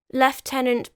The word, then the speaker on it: lieutenant: burnt at the stake left tenant by the way I have mentioned this before is the English and technically proper pronunciation of the American word Lieutenant on the 18th of